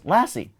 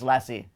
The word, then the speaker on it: LaCie: And he goes, LaCie. No! I go, like the dog? No! He goes, yes, like the dog. He goes, yes, it's LaCie.